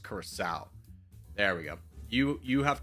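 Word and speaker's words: Curaçao: It's not Caraco, it's Curacao.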